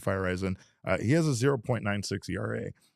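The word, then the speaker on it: Feyereisen: And another guy, JP Fireson, uh he firezen, I knew I was going to say it wrong. It's JP Fireen.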